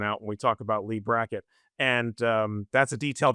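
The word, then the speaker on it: Leigh Brackett: The young man who's helping his mother is named Lee Brackett, which is, you know, phonetically the same as Lee Brackett, L EI GH, the famous science fiction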